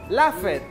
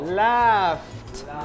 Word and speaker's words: laughed: Laugh it. No, laughed.